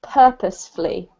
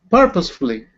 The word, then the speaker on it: purposefully: yeah it's pronounced purposefully purposefully yeah okay thank usually if we have a word with this fully on the end Raphael it's it's not the emphasized part the beginning of the word is emphasized and this is just